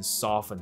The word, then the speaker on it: soften: 不发音，你就念成 soften 就可以了。